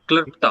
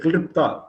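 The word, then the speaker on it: क्लृप्त: KLR. R is important. Okay. Klipta. KLRU. KLRU. Okay. PTA. KLRU PTA. Klipta. KLRU. All the 4 are important.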